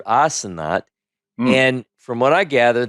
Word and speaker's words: Asenath: Her name is Asenath. Is the way we pronounce it in Hebrew, Asenath.